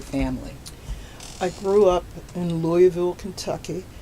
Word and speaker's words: Louisville: up about your family I grew up in Louisville Kentucky pronounced Louisville Kentucky mm-hmm unless you're putting on airs and I don't want to put on airs so I'm from Louisville Kentucky my parents were Willer and married banks